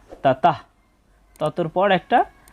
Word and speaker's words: ততঃ: প্রথমে দেখতে পাচ্ছি তাতাহ শব্দের শেষে যদি বিসর্গ থাকে তার জন্য অর্ধেক হ এর মত একটা সাউন্ড আসে তাই এখানে হবে তাতাহ ততর পর একটা হ